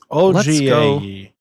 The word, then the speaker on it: Ogiehi: The name is pronounced with a short O and a hard G. Did you answer it on YouTube? OGAE.